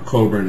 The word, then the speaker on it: Cockburn: uh admiral sir george cockburn or coburn as the british pronounce it and general sir robert